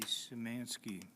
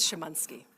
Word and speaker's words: Shamansky: Uh then we have Samansski. Feel free to use the proper pronunciation. My last name is Shamansky.